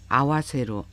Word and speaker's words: 合わせる: 일본어 단어 동사 N4급의 아우, 아와세루 그리고 N1급의 아와스에 대한 설명을 하겠습니다. 한자 하파랍자라고 알고 있는 이 단어를 이용해서 일본인들이 동사를 아우, 아와세루, 아와스라고 발음을 하는데 각각의 동사에 대한 자세한 설명을 해드리겠습니다.